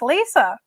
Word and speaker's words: Lyssa: is it is spelled or Alissa pronounced Lisa so there you go no no from now